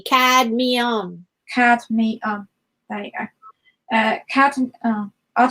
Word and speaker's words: Cadmium: Cadmium. The M comes right after the D. Cadmium.